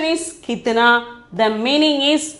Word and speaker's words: कितना: Pronunciation is कितना.